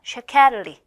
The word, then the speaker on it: şekerli: 여기 원어에 여기 꼬리가 빠졌네요. şekerli 라고 읽어요.